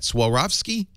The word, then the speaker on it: Swarovski: Swarovski?